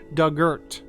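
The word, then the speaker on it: Dugort: tense of dig and ort rhymes with earth so dugert okay duggart the big house is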